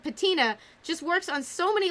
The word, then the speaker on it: Patina: things and ancient artifacts, and Patina rhyming with Athena, and also Athena's my favorite goddess. So Patina, goddess of wisdom, and